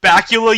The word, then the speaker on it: Bakula: and it was like bakula you've done it again it rhymes with dracula oh my god it's